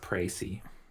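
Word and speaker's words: précis: The court has now heard a precus of the case. That might be it. I'll check the court record. I want to examine. How do I flip it over? It's pronounced Pracy.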